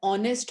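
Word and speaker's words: honest: इसी प्रकार अगर ऑनेस्ट होता, वो भी एच से स्पेलिंग की जाती है, लेकिन कहते हैं हम ऑनेस्ट तो होता ही इज एन ऑनेस्ट मैन।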